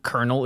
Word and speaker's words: colonel: spelled American words ever I cannot think of a a worst one Colonel the fact that that is how konel is spelled they're two different kernels